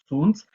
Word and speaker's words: Zunz: Corrigiram, inclusive, a minha pronúncia, né, na primeira aula. Então, Leopold Zunz, que foi um nome importante, o nome da